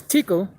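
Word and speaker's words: תקל: the ancient hebrew language the qual that's pronounced as tikl and basically means you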